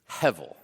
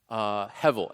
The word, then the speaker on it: Hevel: is this Hebrew word Hevel. Hevel. And again, sometimes you'll see it spelled with a B, but it's always pronounced with the V. Hevel.